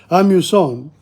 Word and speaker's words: amusant: Amusant, amusant, amusant in the masculine. You use the nasal one.